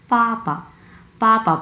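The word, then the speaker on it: 爸爸: এই যে বিটা দেখতে পাচ্ছেন, হ্যাঁ, ইংলিশ বি, এই বি হচ্ছে চাইনিজে আমরা উচ্চারণ করি হচ্ছে প। হ্যাঁ, প। সো এখানে বাবা বলার কোনো সুযোগ নেই, এটা অ্যাকচুয়াল উচ্চারণ হচ্ছে পাপা।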